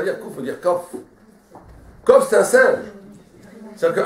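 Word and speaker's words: קוף: Mais en vérité, on ne doit pas dire kouf. Comment on doit dire? Kof. La vraie prononciation, c'est kof, on ne dit pas parce que kof, ça veut dire un singe.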